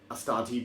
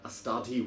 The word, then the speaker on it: Astarte: So Astarte being the Greek god, I think that's how you pronounce it, because you say things like Hecate, Ariadne.